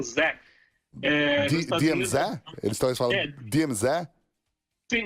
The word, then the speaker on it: DMZ: Uma das maiores aqui é a DMZ, é DMZ, né? Aqui no Canadá eles não falam o Z, eles pronunciam diferente, né? Eles pronunciam Zé. DMZ?